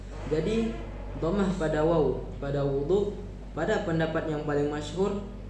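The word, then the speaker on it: وُضُوء: Jadi damah pada wau pada wudu pada pendapat yang paling masyhur adalah sebuah nama bagi sebuah perbuatan yang dimaksud di sini itu adalah wudu.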